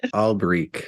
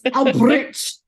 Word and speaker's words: Alberich: How do you say it? Alberich. Which is bullshit. Yeah. It's bullshit. It's absolute bullshit. Alberich. At least it's French, and it's not French. It is German. It's Alberich, bitch.